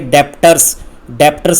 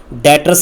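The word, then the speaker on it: debtors: डेटर्स में ध्यान से देखो, स्पेलिंग को अगर आप देखोगे तो आप इसे रीड करोगे डेप्टर्स रीड नहीं करना, बी साइलेंट रहता है, डेटर्स रीड करना है।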